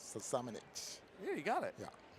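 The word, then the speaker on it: Šamanić: I'm going to give mine to Luka, and I'm not going to pronounce his name right. Samanic.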